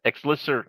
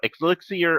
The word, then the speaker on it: elixir: Exlyer. I can't say that word for some reason. Elixier. That's I'm missing a syllable. That's why. Elixir of featherfoot.